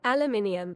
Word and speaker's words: aluminium: Because it's a rare example of a word that's both spelled differently and pronounced differently. Aluminum. Aluminium.